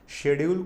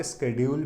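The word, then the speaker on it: schedule: Apart from increasing open mic शेड्यूल, शेड्यूल को आप स्केड्यूल भी प्रोनाउंस कर सकते हैं, शेड्यूल in venues across city.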